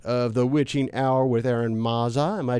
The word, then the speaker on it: Eron Mazza: are the host of the witching hour with aaron mazza am i pronouncing that right yes i am okay they